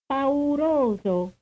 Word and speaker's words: pauroso: How many syllables do you hear in the following Italian word, the word for fearful? Pauroso. Pauroso. The answer is 4.